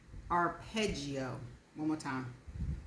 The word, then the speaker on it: arpeggio: The word is spelled ARPEGGIO, and it is a noun. The note of a chord played in succession, either ascending or descending. And this is how it is pronounced. Arpeggio. Arpeggio.